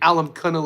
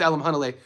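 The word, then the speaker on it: Alimkhanuly: It's funny to hear people mispronounce his name. They Alam Kunnel. It's Alam Hunnle.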